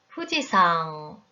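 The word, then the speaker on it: 富士山: 그림은 일본의 후지산 입니다 후지산은 후지산 인가요 아닙니다 그렇게 발음하면 안됩니다 후 지 사 항 마지막은 콧소리로 발음을 해 주세요 좀전에 발음한 신문도 마지막엔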